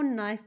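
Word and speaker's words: knife: हम नॉक कहते हैं के एन आई एफ ई को नाइफ पढ़ते हैं नाइफ का हिंदी मतलब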